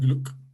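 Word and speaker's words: Glueck: grant and glock that's g-l-u-e-c-k pronounced grant and gluck the harvard study and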